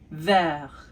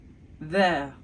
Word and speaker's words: vert: So we go from vert, even though in the masculine form, we don't say the T, but in the feminine form, we say the T because it ends with an E. So, vert to verte.